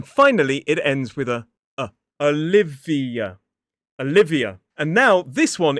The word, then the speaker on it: Olivia: This one is Olivia, 4 syllables, stress on the second, and this actually has 2 schwas in it.